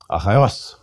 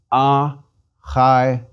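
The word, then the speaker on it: Ἀχαιός: Achaios. Smooth breathing. Second syllable is a diphthong. Accent is on the last syllable. Please repeat. Achaios.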